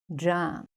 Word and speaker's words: germ: Now let's add an R after the E and the pronunciation changes to jam.